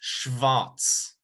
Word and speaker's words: schwarz: to pronounce one um there's a lot of sch sounds in german that's shiv and then w makes the the sound so it's schwarz let me touch it